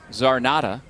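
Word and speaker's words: Czarnota: I can see where you'd come up with that nickname if your name is Zarnota. Even though the C is a silent letter to start that last name.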